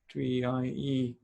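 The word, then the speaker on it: trie: class okay it's called 3ie yep it's pronounced like tree as we like that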